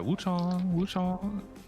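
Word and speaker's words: Wuchang: Oh, sorry, Wu-Chang.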